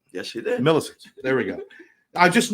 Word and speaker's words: Milisitz: Milisitz. Did I say it right? Yes, you did. Milisitz.